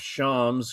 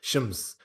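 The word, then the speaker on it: شمس: I think they pronounce it a bit more like shams.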